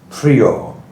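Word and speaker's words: Priaulx: A U L X Prio, I think is how that's pronounced.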